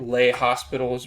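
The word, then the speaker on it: L'Hôpital: using lao pitol's rule using lao pitol's rule and i've never taken a french class so i'm not claiming that i'm saying it right so if you want to just call it lay hospitals rule that's fine some people just call it the hospitals role they added an s there okay so um for the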